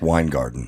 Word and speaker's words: Weingarten: is pronounced Weingarten.